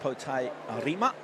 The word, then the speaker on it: Pote Arima: Number 5, Pote Arima. That's the Māori pronunciation.